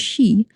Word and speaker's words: Sidhe: They would emerge because their earthen mouths, the she, spelled as Sidhe, but pronounced as she, would literally yawn wide on Samhain night.